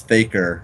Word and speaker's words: Theaker: case you're wondering about how to pronounce my name it is faker rhymes with Baker I guess Baker Baker